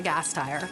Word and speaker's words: Gasteyer: And then it's just the automotive parts. Just think about a car. Gas and a tire, and that's what makes the car go. So then you just put it all together. Anna GASTEYER.